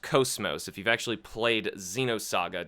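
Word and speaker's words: KOS-MOS: time that character is cosmos and yes it's pronounced coast most if you've actually played Xenosaga don't say cosmos there's so many people online who keep saying cosmos I don't know why but anyway Cosimo's is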